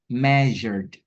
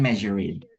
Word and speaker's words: measured: Nah si gini teman-teman formulanya kalau ed ini ada di belakang eh kata yang akhirnya itu bukan t atau bukan d kan ini kan akhirnya r kan. Nah si ed-nya ini hanya dibaca deh gitu measured bukan measured gitu.